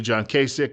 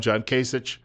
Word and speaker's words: Kasich: I think the name is pronounced usually John Kasich, but some people call him John Kasich.